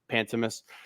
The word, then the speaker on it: Pantemis: Pantemis.